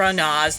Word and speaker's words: Anas: I pronounce it as Dr. Anas, not Dr. Anus.